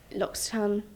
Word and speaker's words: L'Occitane: Because obviously, L'Occitane, is that how you say it?